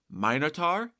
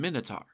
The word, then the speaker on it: Minotaur: mention last time, that there are two different correct pronunciations of Asterian's nickname, Minotaur and Minotaur. Since I've been using the more common pronunciation of King Minos throughout, I've gone with the former, but both are accepted.